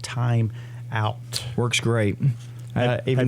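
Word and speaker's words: Thyme Out: And then the cream to use is called Time Out. That is not spelled T-I-M-E. It's spelled like the herb, Time, T-H-Y-M-E.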